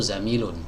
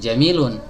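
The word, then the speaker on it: زميل: Ya, teman sekampus, ya, teman sekantor itu zamilun. Zamilun pakai zai. Nah, bukan jamilun. Kalau jamil indah artinya.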